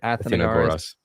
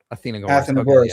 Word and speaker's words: Athenagoras: I always forget how to pronounce the name. I think that's right. Athenagoras. Athenagoras, okay, yeah.